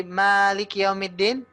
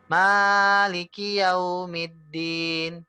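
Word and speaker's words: مالك يوم الدين: Mad gitu ya contohnya di Maliki yaumiddin Ibu terlalu panjang gitu ya maiki yaumiddin ya padahal ini hanya tiga saja Bu ya hanya tiga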